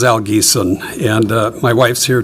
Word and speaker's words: Al Giesen: Uh and yes, you pronounced it correctly. Uh my name is Al Gon and uh my wife's here too in the audience.